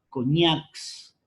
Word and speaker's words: coñacs: Mira, coñacs, fuerza de voz, ¿en qué sílaba está? ¿En co o en ñax? En ñax.